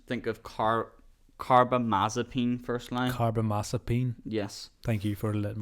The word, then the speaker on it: carbamazepine: Carbamazepine. Yes. Thank you for letting me. Yeah. Teaching me how to pronounce it.